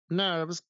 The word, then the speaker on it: NURBS: tantos parece redondito Pero los nerves que es así como se pronuncia nurbs sí eh estas